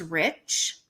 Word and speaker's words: Reich: did find out that r-e-i-c-h in the case of um leah michelle's husband is pronounced rich however it's spelled r-e-i-c-h which is right in german um and ever reich